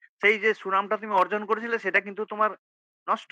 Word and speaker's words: অর্জুন: এটা অ অ অর্জুনও বলছেন তো? এটা অ মানে অটা সংস্কৃতে আই হবে। অর্জুন, অর্জুন মানে অ আয়ের মাঝামাঝি একটা উচ্চারণ হয় আরকি সংস্কৃততে। অর্জুন ইউবাচ, অর্জুন ইউবাচ, অর্জুন উবাচ অর্জুন ইউবাচ।